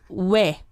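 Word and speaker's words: ㅚ: So first one is O plus E, and you pronounce we.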